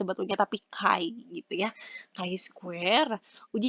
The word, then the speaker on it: chi: chi-kuadrat atau chi-square ya ini sebetulnya Bu bacanya bukan chiya tapi Kai gitu kain Disini di ahu